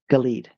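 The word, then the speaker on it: Gal-ed: And so this word galed, it has a root word of gal and e uh ed. Galed. Galed. Say it correctly. Galed. uh gall having to do with to gather and ed as means uh witness and that's where we get the two together.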